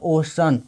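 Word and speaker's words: ocean: तो ओ का उच्चारण ओ होता है और CEA को पढ़ेंगे स, अविन से होता है न, तो हो गया ओशन।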